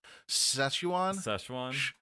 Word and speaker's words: Szechuan: What Szechuan chicken? How do you say that? Szechuan. Szechuan. It's like session, but you say wan instead of un.